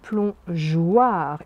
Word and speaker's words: plongeoir: le à fond le plongeoir ici le g se prononcent juge car devant eux on est obligé de rajouter un e sinon ça ferait le plomb gouard vous comprenez plongeoir ici